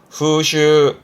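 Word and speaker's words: 風習: 발음은 후슈, 후슈.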